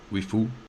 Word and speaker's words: リーフ: So the Nissan LEAF, in Japanese, I believe it is pronounced Nissan Rifu, stylized as LEAF, which